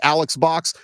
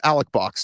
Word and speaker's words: Alex Box: So it looks like Alex Box. They pronounce it Alec Box Stadium.